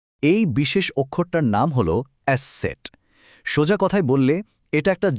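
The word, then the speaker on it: Eszett: দেখতে এটা অনেকটা ইংরেজি বি এর মতো লাগতে পারে কিন্তু এর কাজ আর উচ্চারণ দুটোই একদম আলাদা। এই বিশেষ অক্ষরটার নাম হল এসে সেট।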